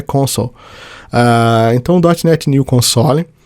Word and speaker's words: console: então dtnet New console a pronúncia do de console em inglês é console Ah então dnet New